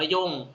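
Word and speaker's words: 四: นะ ครับ ซัง ซัง 4 นี่ อ่าน ว่า ชิ หรือ อ่าน ว่า โย่ง ก็ ได้ นะ ครับ ชิ หรือ อ่าน ว่า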